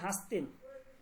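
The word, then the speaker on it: هستین: তারা এই দালটাকে নুন ধারা পরিবর্তন করে উচ্চারণ করে।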